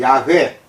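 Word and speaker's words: 야훼: 라고 벌렸 됩니다 그리고 히브리어로 야외 라고 발음 되는데 그만 나는 있다 라는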